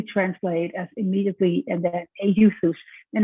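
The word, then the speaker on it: εὐθύς: Euthus is what you pronounce it in Greek.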